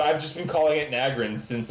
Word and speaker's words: Nagrand: Nagrand. Yeah, but I've just been calling it Nagrand since like I started in 2009. What's it supposed to be called? Nagrand. Nagrand. The two syllables are not in grand.